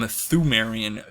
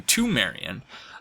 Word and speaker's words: Thumerian: And that seems to me to be a brilliant, just like the switch that I recently made from Thumerian to Tumerian.